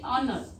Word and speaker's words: honor: Then honor. H-O-N-O-U-R. But H silent here. You read honor.